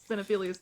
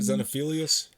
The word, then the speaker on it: Xenophilius: Then she just gets up and she's like, we're seeing Xenophilius Lovegood.